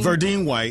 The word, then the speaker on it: Verdine White: Verdine White.